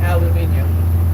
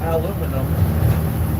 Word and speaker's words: aluminum: extruded aluminum and that is how you say it the british didn't get that wrong it's not aluminium because even the person who said it said it was aluminum and only posh people try